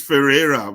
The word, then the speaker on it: Ferrera: prestige uh Ferrari so ferari can you help me am I pronouncing that name correctly oh it's it's Ferrera but uh people call me Ferrari just to remember it's Ferrera I'm used to the